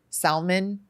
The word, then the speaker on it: salmon: the L I mean I pronounce it L is silent that's right like salmon yeah yeah I don't know